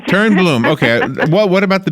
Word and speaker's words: Toernblom: Yes, it's Toernblom, but it's a Swedish name, so we forgive all Americans. Toernblom, okay.